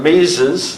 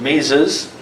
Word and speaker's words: Mises: monetarism and this fellow ludwig von mises that's how you pronounce it mises goes with the austrian